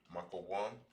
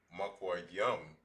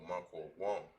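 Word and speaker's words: מקום: All right, place in the large form dash, it is pronounced as makawam, not makwa yum, but makwa wam.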